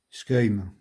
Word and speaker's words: schuim: Donc, si je décompose, on a S, c'est pas vraiment un K, mais je trouve pas vraiment, il n'y a pas vraiment d'équivalent. Il faut se l'essayer. Je vous mettrai après une prononciation d'un natif. Œil et un M pour finir.